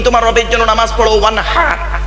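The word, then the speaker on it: وَانْحَرْ: ওয়ানহার, ওয়ানহার, এই গলার ভেতর থেকে এটা উচ্চারণ হবে, হাই ওটি, হাই হাওয়াজ নয়।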